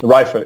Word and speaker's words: Reife: Chapter 8, again, I'm going to try this pronunciation here. Is it Reifer? Reifer, yeah, Reifer.